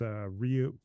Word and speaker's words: Rui: It's Ryu.